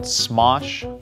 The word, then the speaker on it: Smosh: It's called Smosh the Movie. Have any of you guys heard of Smosh? How do you spell that? Smosh, S-M-O-S-H. That's what I thought you said. Sounds like smoosh. S-M-O-S-H, smosh.